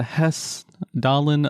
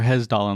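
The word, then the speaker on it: Hessdalen: we got something called the hes dollin lights holin lights or hesdin Lights I've heard it pronounced both ways so the holin lights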